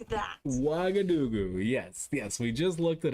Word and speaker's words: Ouagadougou: It's always the pronunciation. Okay. Ouagadougou. Something like that. Ouagadougou.